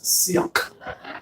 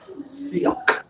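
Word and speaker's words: Sealth: but in his language, the ways to pronounce his name is Sealk. Sealk. So you start with S-E-E, and then you pop it off your throat. In language, that's called a glottal pause.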